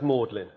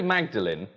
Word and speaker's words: Magdalen: So you don't know why it's pronounced Magdalen? You went to university for 3 years and you never asked. Never once occurred to you. Well, it's Mary Magdalene, but the college at Oxford is known as Magdalen.